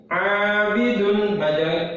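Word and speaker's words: عابدون: Abidun membacanya dua harokat. Abidun nggak boleh. Abidun, nah nggak boleh, harus panjang. Dua harokat, dua ketukan.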